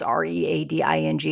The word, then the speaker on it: Reading: they have a place here called reading it's r-e-a-d-i-n-g and it's actually pronounced reading which makes me so annoyed I